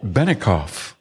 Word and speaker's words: Bennecoff: with us is benicoff hi hello you got my name right I did yeah and I didn't think I would goof that up but it's actually it sounds like it's spelled her shop is subie